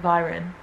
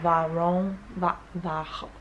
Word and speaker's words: Viron: that, then go to I know you don't pronounce it Viron, but that's how it is spelt. But if you're French, it would be like Varon, Varon.